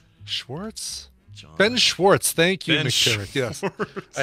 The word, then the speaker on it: Ben Schwartz: Ben Schwartz.